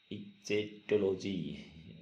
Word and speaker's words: ichthyology: Study of fish is called, study of fish is called इचेकोलॉजी, इचेटोलॉजी। सही से pronunciation नहीं हो पा रही है, आप इसको देख लीजिए।